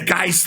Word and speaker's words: Gist: got it right man first thing G hard G I think it's called I I think it was JJ Coan who I've always called JJ coxan yeah um he used your name and so I took notes I went oh it's hard G yeah yeah like good God you know an IST an IST like make a list or fist yeah so like the